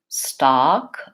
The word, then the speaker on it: stock: listen to them all stack forward stock open it back stuck very central relaxed tongue not very open same thing goes then